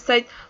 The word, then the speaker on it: light: with with a word light street light street light we see here that the GH here is silent we didn't pronounce it which does light light light if you